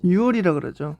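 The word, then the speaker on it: 유월: - June se pronuncia como " yoo wol ". - Es " yook wol " cuando escribo, sin embargo. Pero cuando decir en voz alta, es " yoo wol ".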